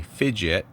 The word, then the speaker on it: Phidgets: so this awkward beast is a fidget which is spelled p-h-i-g-i-t which is a um a kit